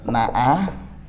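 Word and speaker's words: نأى: Yang ketiga, wayan auna anhu, na'ayan na'a, jenengan harus beda nggih bacanya, na'a pakai hamzah dengan na'a pakai ain. Ya, na'a. Kalau na'a pakai hamzah ini menepi, menjauh. Nggih. Kalau na'a bersedih. Nggih. Makanya hati-hati. Baca aja sudah keliru, beda huruf loh, Pak.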